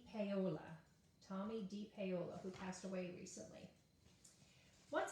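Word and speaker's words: Tomie dePaola: up how to say his name d paola tommy d paola who passed away recently once upon a time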